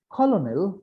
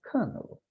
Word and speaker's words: colonel: It is not colonel, but it is colonel.